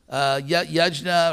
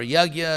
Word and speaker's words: Yajna: Yajna or Yagya, it's one of those words which has about 300 pronunciations in India. In Bengal, in East India, it's Yogga.